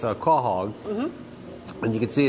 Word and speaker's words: quahog: is a stuffed quahog i asked how to pronounce that and it's a quahog and you can see it's stuffed there and